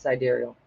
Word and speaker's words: sidereal: get into sidereal, which I used to call sidereal all the time for years. So don't worry if that's what you've been calling it. You can keep calling it that. I believe it's properly pronounced sidereal.